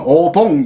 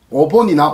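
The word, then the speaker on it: お盆: 어떤 표기법은 오봉 이렇게 되어 있어요. 오본이나 오봉은 같은 발음이다. 미영과 이영 중간 발음이다. 그래서 오본 혹은 오봉.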